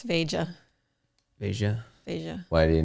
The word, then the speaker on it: Veja: No, Veja. It would be Veja. Yeah, I think that's what it is. Veja. Yeah, Yeah. Veja. I'm saying it right? Yeah. it's like Asia, but Veja.